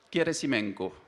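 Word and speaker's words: Gerasimenko: Russe vous découvrirez leurs deux noms ça se prononce turumov keresimenko alors pour les gens comme moi on a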